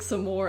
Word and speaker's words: Samara: anyway Samara doing here it's pronounced like some more I do it like